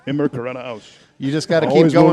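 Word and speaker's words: immer geradeaus: Immigrata House.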